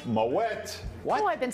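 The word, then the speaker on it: Moët: Most people say Moet. They assume it's champagne. It must be French, so the T is silent. That's incorrect. It's pronounced Moet.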